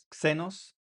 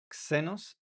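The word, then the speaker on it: ξένος: La xi se pronuncia como una X en español, como en la palabra xenos, xenos, xenos.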